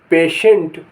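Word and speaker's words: patient: Russia Russia माने रूस टी के उच्चारण टी के स्थिति के हिसाब से यह उच्चारण होते हैं श च था और द शब्द में टी के बाद आई ए आईई आईओ आदि हो तो टी को श बोला जाता है जैसे आई एन आई टी आई ए L initial माने प्रारंभिक पी ए टी आई ई एन टी पेशेंट पेशेंट माने रोगी आई डबल एल यू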